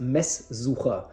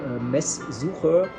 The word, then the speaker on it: Messsucher: It's well, basically, just to make things short, it's pronounced Messsucher.